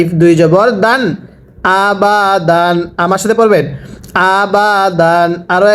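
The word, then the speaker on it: أَبَدًا: আহাদুন এবার একসাথে পড়ুন হামজা জবর আ বা জবর বা আবা দা আলিফ দুই জবর দান আবাদান কিভাবে পড়ব আবাদান আরো একবার আবাদান আরো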